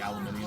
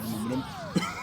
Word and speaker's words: aluminium: the the letters are there properly to make it sound like aluminium and not aluminum.